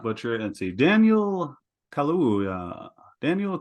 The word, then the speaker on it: Kaluuya: Can you pronounce it, Giles? I'll try to not butcher it. Let's see. Daniel Kaluuya. Daniel Kaluuya is probably how you'd probably be all right with that.